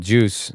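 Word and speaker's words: KJUS: in Texas he's like it's called juice uh it's spelled kj-u-s unbelievably expensive I I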